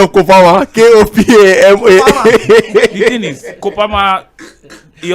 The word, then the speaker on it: Kopama: K-O-P-A-M-A. The thing is, Kopama, he also has... Did you hear the way Triple pronounce it? It's Kopama now. It's Kopama.